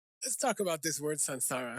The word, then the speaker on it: saṃsāra: 应该是， is sansara, like S-A-N, not S-A-M.